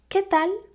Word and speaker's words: qué tal: So notice the pronunciation here. I don't pronounce this vowel. You can just ignore it, okay? I don't say que, I say que. And also for the L, it's not pronounced from the back of my mouth. Instead, my tongue is against my teeth.